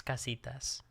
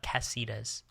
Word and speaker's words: casitas: little cabanas called the casitas. If you want to hang out in one, could you try to pronounce it? It's casitas, not cassitas.